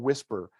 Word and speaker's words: WSPR: about weak signal propagation reporter or something called whisper is how it's pronounced um it is a digital mode and